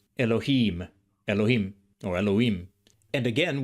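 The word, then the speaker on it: אלהים: In Elohim, you can hear the longer vowel in im in Biblical Hebrew. Elohim, Elohim, or Elohim.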